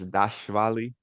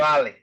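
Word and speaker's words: Dvalishvili: You don't even say the V. Well, you do, but it's like after the V. It's Dashvali. That's how they say it. Dashvali.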